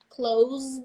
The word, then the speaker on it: close: verb the verb first the verb close the door this is close close the door and I was thinking about closure closure yeah kind of goes from the the vibration Sound Of Z but then the adjective that was close she's very close to me close the adjective double s the opposite from far just like Muse far